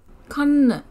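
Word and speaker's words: කන්: Kan. Eat. Kan. Notice the halk kerima on the first N, and how the final syllable tends to be completely unstressed. So relaxed.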